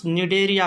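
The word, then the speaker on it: Cnidaria: था phylum Coelenterata, जिसको निडेरिया कहा था हमने। क्या कहा था? निडेरिया। दूसरा फाइलम क्या था भाई? निडेरिया। ये सी साइलेंट है बच्चों इसमें, इसको निडेरिया फाइलम भी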